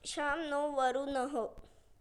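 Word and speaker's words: शं नो वरुणः: contains the Moto no pronounced sham noo which means be as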